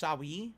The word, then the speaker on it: Siu: Our final question from Twitter is from Siu, who asks, the name is pronounced Sawi?